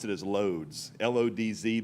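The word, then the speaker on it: Łódź: up in is called watch it's I'm going to spell out pronounce it as loads l-o-d-z because that's the way it looks to us we don't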